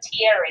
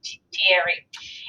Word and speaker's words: Thierry: The first major engagement that involved a significant number of American forces was the fight at Chateau Thierry. That's pronounced Thierry, if you're wondering.